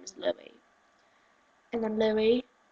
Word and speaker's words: Louis: Jeez, do you need me to lecture you on why it's pronounced Louis and not Lewis? He's from the UK, not from America. You Americans might pronounce it Lewis. We pronounce it Louis.